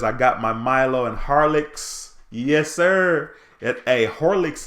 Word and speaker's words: Horlicks: got my Milo and Horlicks yes sir yet a leaks is HOH oh our man hor which is funny though because nobody pronounces it like that no one says Horlicks we say holux right but I hear